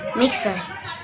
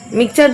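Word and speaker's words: mixer: মিক্সার। মিক্সচার তো আমিও বলি।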